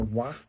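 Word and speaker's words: わ: And then we have this one, pronounced like WA in wagon, so it's a wah, and it's a wah sound.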